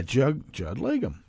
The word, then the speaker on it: Judd Legum: into that too much uh Ron DeSantis uh Judd legum is that how I is that how one pronounces his name let me get back up here it's uh he took yeah Judd legum that was correct I I read the guy